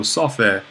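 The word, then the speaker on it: σοφή: So we have Sophe here. Note that the accent is falling on the same syllable.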